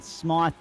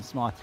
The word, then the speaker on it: Smythe: The qualifying session was topped by Hayden Smythe, or Smith, depending upon what the pronunciation is there. I know people with the Y spelling that say it both ways.